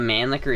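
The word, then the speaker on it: Mannlicher: even safe to shoot the pronunciation of man liquor is terrible terrible that's how you say it how else do you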